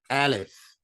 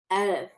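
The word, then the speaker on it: ألف: So Aleph would be ah. See, ah, like Hamza is ah. Aleph is ah. Say both of those. Say Hamza. Hamza. Ah. Ah. Aleph. Aleph.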